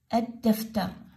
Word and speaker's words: الدفتر: زين، الدفتر، الدفتر، ألف ما عليكم بها، أد، الدفتر اللام اللفظة؟ لا، ما تلفظ اللام.